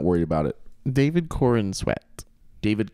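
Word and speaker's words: Corenswet: worried about it David Corin sweat David Corn sweat I don't think it's corn let me see if I pronounce it Corin Corin sweat Corin sweat Corin sweat okay David Corn swag David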